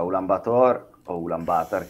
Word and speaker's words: Ulaanbaatar: Allora, Ulaanbaatar, che è la pronuncia reale, ha detto che è a lui, eh?